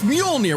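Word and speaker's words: Mjölnir: preview literally said that basically canonized that Boomstick mispronounces Mjolnir on purpose. I actually think that's a really interesting character bit. It's Mjolnir.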